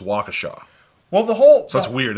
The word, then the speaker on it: Waukesha: because there's there's a town in Wisconsin called wykisha but it looks like what it looks like wykisha but it's pronounced Waukesha well the whole that's weird it's an it's